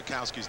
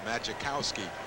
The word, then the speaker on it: Majkowski: you look at Ma makowski's name everybody wants to call him maikowski but the Jay is silent and even when we